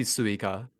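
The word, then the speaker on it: すいか: And this pronunciation uh should how how hard should I come in on the sue if you would like should I say like suika effectively or su? Yeah. It would be suika.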